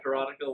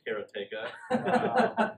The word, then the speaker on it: Karateka: Most people said Karateka, like I had for 20 years, until Jordan Mechner told me, no, it's Karateka. It just sounds as karate with the K-A after it.